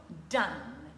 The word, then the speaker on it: done: mot se prononce don on ne dira pas don comme donner mais plutôt done encore une fois tirer